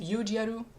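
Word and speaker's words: ユージアル: I think it's a pun because in Japanese Udial is pronounced Yujiaru.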